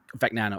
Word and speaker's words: Fagnano: quarterback there was Joseph Fagano. I hope I'm saying his name right. We had the same Fagnano. thing with Fagano. Is that how you say it? Fagnano. Fagnano. Okay, gotcha.